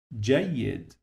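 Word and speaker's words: جيد: This ya, we said we pronounce it two times. So let me write them like this here. The first time we pronounce it like I.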